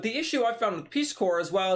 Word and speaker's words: Peace Corps: type Peace Corps or Peace corpse if we wanted to spell it out the way or say the way it's spelled basically its Peace corpse guv which I believe